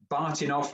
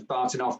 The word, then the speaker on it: Bahtinov: These things are called Bartinov masks, and that's spelled Bahtinov, invented by some Russian geezer.